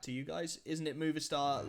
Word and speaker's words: Movistar: Isn't it Movistar like the company? Yes, I think so. Am I pronouncing it wrong?